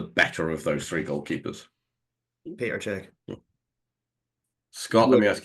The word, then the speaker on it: Petr: pronounce his name correctly pet Peter pet not Peter okay well Terry hry